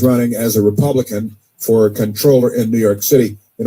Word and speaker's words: comptroller: New York City, he's running for controller. It's spelled comptroller, but controller.